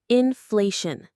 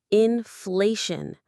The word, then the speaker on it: inflation: The word is inflation. First let's get the pronunciation in fleun. The syllables are in fleun. There's our shun ending again. The stress falls on the middle part.